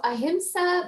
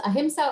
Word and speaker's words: ahimsa: Yeah, so ahimsa means nonviolence. It can be pronounced as ahimsa or ahimsa.